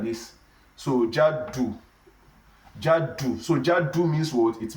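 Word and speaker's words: جَدُّ: Jaddu is different from Jiddu. Jiddu means seriousness. So Jiddu means seriousness, while Jaddu means grandfather.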